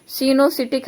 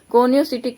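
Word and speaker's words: coenocytic: पाया जाता है उसे सिनोसिटिक हाइफी या कोनोसिटिक हाइफी भी कह सकते हैं। ठीक है, आपका जैसा मन करे प्रोनाउंसिएशन करने का, सिनोसिटिक करेंगे तो भी सही है, कोनियोसिटिक करेंगे वो भी सही है।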